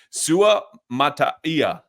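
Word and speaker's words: Suamataia: No, Kingsley, I believe it's Sumataya. Sumataya is how I've been pronouncing it.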